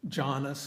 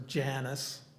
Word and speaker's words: Janus: Janus, which is pronounced at various ways, Jonas or Janice, um, doesn't really matter.